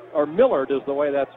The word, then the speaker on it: Millard: first half for the birds down 17-15 Chad Millard or Millard is the way that's pronounced the transfer from Louisville he's a senior